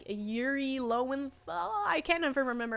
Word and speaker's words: Lowenthal: Lowenthal.